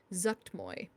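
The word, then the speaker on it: Zuggtmoy: the murals is related to the worship of zucked Moy is how you pronounce it um is the seed of power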